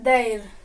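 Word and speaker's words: they're: उसका प्रोनाउंसिएशन क्या है? देर। क्या बताया? देर।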